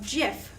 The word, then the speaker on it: GIF: page so today we're going to talk about jiff a pronunciation lesson we're going to go over what